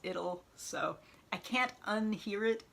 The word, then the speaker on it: Idyll: this one would be Idle Hands, except I've heard that it's actually pronounced Idyll, so I can't unhear it as Idyll though.